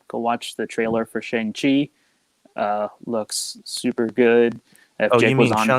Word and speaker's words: Shang-Chi: watch the trailer for shang chi uh looks super good if jake was on here he'd be hyping how it has changed i i heard i heard i heard that it's pronounced shang-chi but who knows they haven't